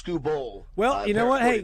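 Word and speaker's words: Skubal: Scooball, by the way, Scooball is pronounced Scooball.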